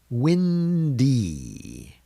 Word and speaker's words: windy: Windy, windy is making the long E sound.